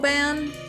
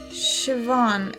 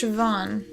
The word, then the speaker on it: Siobhan: Ban? Siobhan. It's pronounced Siobhan.